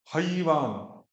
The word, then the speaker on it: हैवान: हैवान हैवान, अंतर क्या हुआ? हईवान।